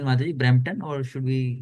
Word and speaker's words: Brampton: taking care of ISKCON Brampton, and like ISKCON Brampton is that's correct pronunciation, Mataji, Brampton, or should we say something else?